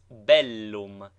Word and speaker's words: bellum: PS BT like PT doubled consonants should both be sounded contrary to the custom of English thus Bellum is pronounced distinctly Bellum not Bellum nine